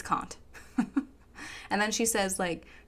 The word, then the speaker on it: Kant: She also can't pronounce Kant, because she says can't.